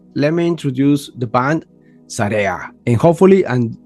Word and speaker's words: SAREA: So, but before we continue, let me introduce the band Sara.